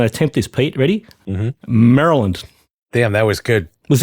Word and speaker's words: Maryland: been pronouncing Maryland incorrectly for years it is pronounced thing I'm going to attempt this Pete ready Maryland damn that was good was that good yeah